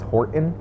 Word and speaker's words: Horton: seussical and i was horton and everyone was like there's a t in that word and i was like i'm saying it yeah horton horton and they're like you're not like horton says that's so